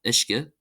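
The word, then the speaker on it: uisce: Ui is pronounced as an i. So we have ishka. Ishka. Ishka meaning water.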